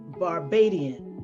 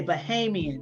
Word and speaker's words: Bahamian: out of this world indiana is a barbadian did i say it right the bahamian from the bahamas okay bahamian yes and uh those oxtails